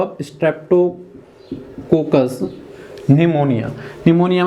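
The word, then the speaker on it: pneumonia: निमोनिया में बस पी जो होगा वो साइलेंट होगा, ठीक है, निमोनिया, न्यूमोनिया, जिससे निमोनिया रोग होता है।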